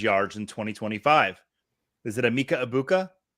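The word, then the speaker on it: Egbuka: Is it Emeka Ibuka, Teteroa McMillan, Quinshawn Judkins, or Cam Scattaboo? And yes, I pronounced all 4 of those names correct.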